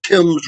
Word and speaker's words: Thames: um harrison defeated a british force on the thames river now that's like the thames river in england it's spelled t-h-a-m-e-s spelled tim but and that happened